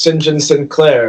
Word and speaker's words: St. John St. Clair: Well, we're back right on time for the I was due a visit from an old friend whose name is Singen Sinclair. It's spelled St. John St. Clair."